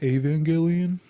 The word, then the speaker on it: Evangelion: It's pronounced Evangelion.